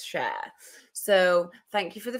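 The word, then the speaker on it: Schär: last video that um you're not saying share right stop saying sh it's share so thank you for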